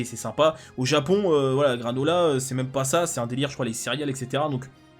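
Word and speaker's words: Granolah: Alors je rappelle, en japonais, le R se prononce L, enfin c'est entre un L et un R. Donc en gros, bon ok, granola, ok la blague on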